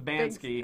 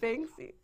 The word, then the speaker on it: Banksy: In the case of Bansky. I think it's pronounced Banksy.